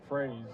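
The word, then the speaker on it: Froese: it like phra SE like a phrase and emotions dalrymple look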